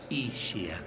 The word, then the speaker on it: Ischia: Y en pergamino se pronuncia Ischia, como lluvia. Claro. El único lugar del país donde se dice Ischia.